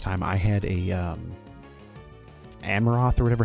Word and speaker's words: Anorith: Anorith, that's how you say it in Armaldo.